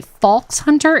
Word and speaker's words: Falxhunter: from I go by false Hunter it almost sounds like Fox Hunter but you put a little bit of an L in it but either pronunciations work for me and um it was